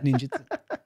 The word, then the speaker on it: ninjutsu: So perfect pronunciation there, sir. What? Matoka? Motoka? No, ninjutsu. Oh, ninjutsu.